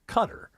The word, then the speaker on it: Qatar: But I had known for a fact, in my mind, that it is pronounced Qatar.